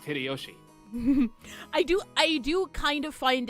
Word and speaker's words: Hideyoshi: 一文の焼け野原がわしの原点なんや This portly and slightly chubby man is George Aniki's dad, Uncle Hideyoshi, pronounced Hideyoshi.